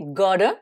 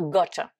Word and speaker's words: gotta: Maintenant, voyons la troisième contraction assez courante, qui est gotta, qu'on écrit G-O-T-A. Donc, avec l'accent américain, ça va donner gotta. Hein, le double T, on le prononce comme un D, mais les Britanniques vont dire gotta.